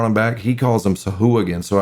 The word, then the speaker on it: Sahuagin: back, he calls them Sahuagin. So I keep wanting to say Sawagin, but since he wrote the damn book, I'm going to call it what he calls them.